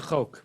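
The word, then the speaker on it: חֹק: unless you know it, the kamatz under the chet of chak is a kamatz katan, so it's chok. It's really the word chok.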